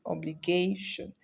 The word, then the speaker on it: obligation: we have obligation obligation words sence with Shan stressed on second to last syllable so the syllable is going to fall on what gay obligation so our answer is